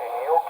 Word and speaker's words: gnocchi: It's pronounced Gnocchi, gnocchi.